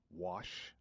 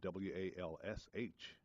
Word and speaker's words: Wash: Louis and we are talking with author local author sister Linda M wash capital W a sh because I've been mispronouncing a last name for the longest time I kept saying wal SH but it's capital W a SH and in